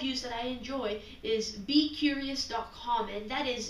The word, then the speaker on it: beqrious: It's Be Curious, but it's not curious as you should spell it. It's curious with QR because of QR codes.